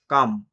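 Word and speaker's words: calm: যদি কোনো ওয়ার্ডে এল আর এম একসঙ্গে থাকে তারপর ভাওয়েল না থাকে, যেমনটা কাম, এই জায়গাতে এলটা সাইলেন্ট রইল।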